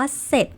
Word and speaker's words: เสร็จ: คะ มัน ออก ว่า เสร็จ ค่ะ เสร็จ ไม่ ออก เสียง เรือ นั้น เอง โน้ ท